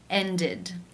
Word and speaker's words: ended: In the infinitive, the final sound is the d sound. Therefore, it is case 3, ended, where the ed is pronounced with the I as in sit and the d sound.